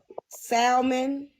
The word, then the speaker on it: salmon: I did you shrimp salmon crab you can do all that on keto you know you ain't suppos to pronounce that l in the hunm salmon salmon goam strip salmon I